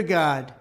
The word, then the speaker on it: Gad: Gadrael is the name of one of the watchers, but G-A-D, Babylonian deity for fortune and luck, it's pronounced the same, God, and that's why it's on the back of your dollar, fortune, right?